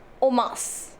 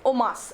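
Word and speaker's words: en masse: and mass okay now this is pronounced as o mas okay o mas and the meaning of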